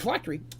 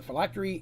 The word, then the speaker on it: phylactery: have something called a phylactery. That's how I pronounce it. There's different ways. That's just how I say it. But a phylactery is usually some type of a container that contains its actual essence.